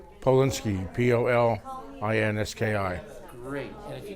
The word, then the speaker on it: Polinski: And spell it, please. B-E-R-N-I-E. Bernie. And your name? And last name? Polinski, P-O-L-I-N-S-K-I.